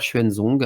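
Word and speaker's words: Xuanzong: faire des recherches donc c'est l'empereur schuenzong alors ça s'écrit en je vous le prononce en pignine mais ça s'écrit x u a n Z o NG donc cet empereur a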